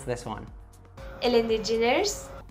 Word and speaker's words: Ellen: So it's got 2 short E sounds. So it's not Ellen or Ellen, it's Ellen.